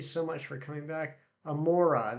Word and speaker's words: Amaura: much for coming back amora that's how you say it i think that's how i say it too i just i